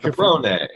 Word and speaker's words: Capron: New York father, Ohio mother of my version, they say Capron. They just try to make it non-regional and, you know, syllable sure. Phonetic, whatever. So Capron, Capron, Capron, Caprone, if you want to do it.